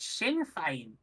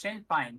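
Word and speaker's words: Sinn Féin: to be sure uh it's pronounced oh it's pronounced Shin fine Shin fine Shin yeah it's it's pronounced Shen fine so it's like kind of fine as in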